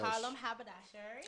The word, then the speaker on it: Harlem Haberdashery: Harlem Haberdashery.